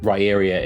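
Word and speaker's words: Riyria: I dislike just for the fact that um raria is actually the correct pronunciation but that is the spelling that that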